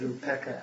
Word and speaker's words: upekkha: Actually, we've always pronounced it upeka. Upeka. Now, upeka comes from upa and ikka.